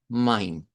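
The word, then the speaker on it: mein: Bueno, eh en cuanto a lo que vendrían siendo estas tres palabras que están aquí, pues el patrón es ei, escritura de tongo e pronunciación como hay.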